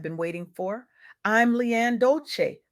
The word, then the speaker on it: Dolce: I'm LeAnne Dolce, pronounced Dolce like sweet softness whispered in French, and I'm your guide